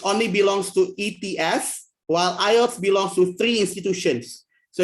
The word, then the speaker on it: IELTS: if stands for in so we pronounce it IELTS not EOS so if you pronounce it ears if you're incorrect actually